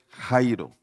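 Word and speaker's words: χαίρω: son antónimos totalmente contrarios la palabra gozo en el griego se escribe Jairo así como suena como aquellos hombres que se llaman Jairo si hay un hombre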